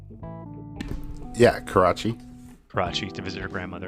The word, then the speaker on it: Karachi: Am I pronouncing that correctly? Yeah, Karachi.